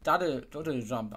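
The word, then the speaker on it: Doodle Jump: Das wird Doddle Jump ausgesprochen.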